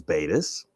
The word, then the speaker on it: Battis: And Phil and I were debating the pronunciation of AnneMarie's last name, but it is Battis.